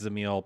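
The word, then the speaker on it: Dzemael: I know that's pronounced Zil because there's a whole video about how you pronounce some of the words.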